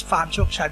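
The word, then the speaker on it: Farm Chokchai: you know that's why we would be more proud to have everybody pronounce our organization accordingly to how it's supposed to be not how the how the English would like to to to to pronounce it and that's why we use Farm joke chat because this is how we write it in Thai but this is not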